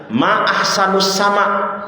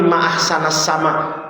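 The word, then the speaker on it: ما أحسنَ السماءَ: Dia ketika ngelihat langit indah, dia bilang, "Ma ahsanus sama." Ditegur sama bapaknya, "Salah, Neng. Bukan ma ahsanus sama, tapi ma ahsanasama.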